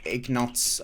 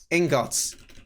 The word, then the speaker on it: ingots: gold uh blacksmith would give you eggnots i hate that word i'm sorry it sounds like i'm saying it wrong um ingots oh is this spelt is this felt like that thank you corrected me i hate that word